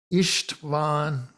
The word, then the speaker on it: István: Notice S by itself appears in his first name, and so it's pronounced as a sh, István. So there it's S is not pronounced as S in English, but it's as a sh, as if it were an SH.